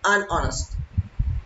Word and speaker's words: honest: hour also for example honest modest also start with age but also H is silent so we say an honest for example he is